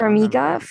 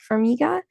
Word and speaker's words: Farmiga: I can't Farmiga, remember. Farmiga.